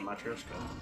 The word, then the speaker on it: Matryoshka: It's a Matryoshka. That's how it's pronounced.